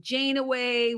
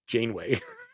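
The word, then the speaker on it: Janeway: once but I never really got into with Jan way with Scott baculo as a captain of one how do you say her name just Jane way you want Jane away away Captain what did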